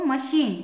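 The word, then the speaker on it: machine: एच आई एन ई इसको मशीन श पढ़ेंगे मशीन है ना पहले कंसोनेंट है एक कंसोनेंट वॉवेल फिर सीच फिर वोल और फिर कंसोनेंट ठीक है ना इसलिए इसको श पढ़ेंगे मशीन आई होप आपको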